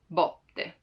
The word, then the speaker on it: botte: Now, as I said it right now, like botte, with an open sound, botte, botte. Like there's a lot of space in between my lingua, the tongue, and the rest of the mouth, botte.